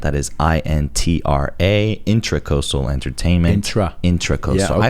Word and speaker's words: Intracoastal: I found out that it wasn't intercoastal. It's the intra. It's intracoastal. That's actually how it's spelled. Interesting. It's like kind of slang to do it intercoastal, but people still spell it intercoastal. I don't know. But it's intracoastal.